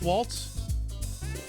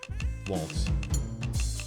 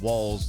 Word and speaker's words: Waltz: It is Walt spelled like you're dancing, right? Not walls like you're uh a weenie who should be put behind a wall.